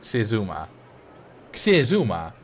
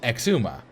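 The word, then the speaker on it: Xisuma: so x i Suma void yeah like that Cuma Kuma that's not how you pronounce it you pronounce it Exuma but you spell it kizuma or like xylophone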